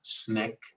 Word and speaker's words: SNCC: upcoming film in july which is called sncc pronounced snick i think you mean january did i say